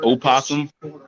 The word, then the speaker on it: opossum: difference between possum and opossum it's just the oh asylum come on are you sure that there's no difference yes it's one animal the o is silent it's so wait is